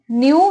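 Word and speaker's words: knew: leopard यानी कि तेंदुआ न्यू यानी कि जानता था इसको न्यू ही बोलेंगे हम ठीक है इसमें के साइलेंट होता है ठीक है ना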